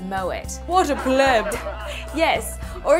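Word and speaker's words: Moët: It's like that time she said moe instead of moet.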